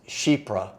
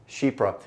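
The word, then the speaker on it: Chypre: for those who didn't know that's how it's pronounced is shipra shipra uh just gonna be a fragrance that exudes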